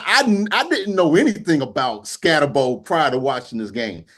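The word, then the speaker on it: Skattebo: It's Scatterbo.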